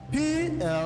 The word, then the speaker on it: plumber: The silent letter in this word, I will spell the word. Plumber is? B. Correct.